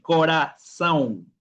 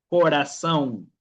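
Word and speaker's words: coração: Y este rabito que ustedes ven acá se llama, que hace que la C tenga un sonido de ese normal. Por eso que yo digo aquí corazón, corazón, canzón, canzón, masán, ma.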